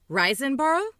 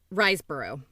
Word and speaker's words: Riseborough: and 12-hour shift andrea reisenboro and possessor wait riseborough i never i always say her name wrong i think it's riseborough andrea reisboro and possessor